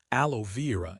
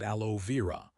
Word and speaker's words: aloe vera: For sunburn, yes, aloe vera is used, but we pronounce it aloe vera.